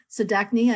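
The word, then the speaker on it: Zdatny: Chancellor Sadachny, I did say it correctly.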